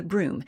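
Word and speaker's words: Brume: I also recommend picking up The Broom, and that is spelled B-R-U-M-E, because it is a ghostly, foggy figure.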